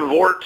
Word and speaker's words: Wort: You say it like Wort. very much. I'm going to bring the Vort to you.